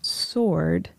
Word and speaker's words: sword: And so as the pronunciation of sword changed over time, the w became silent. And instead of saying sword, sword, sword, sword, sword is what we now have in modern English.